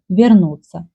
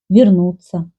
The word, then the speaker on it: вернуться: Ukrainian people will say with ye, сестра, like we write, or verb вернуться. Russian people can pronounce instead of ye и, сестра, вернуться, or я вернусь.